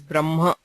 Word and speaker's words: ब्रह्म: hakara and nakara okay so when hakara is followed by the anunasikas like ma or na The Anunasika is pronounced first and the Hakara is heard later. Okay, so it is pronounced as Brahma, and the Hakara is not very pronounced there. It's pronounced subtly.